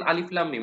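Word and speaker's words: الم: তাহলে লাস্টের মিমটার উচ্চারণটা এভাবে হবে মিম, দেড় হরকত পরিমাণ এই গুন্নাটা হবে, শেষের গুন্নাটা। তো এরপরে আচ্ছা এটা আরেকবার বলি, তাহলে এটা শুনতে কিরকম হবে? আলিফ লাম মিম।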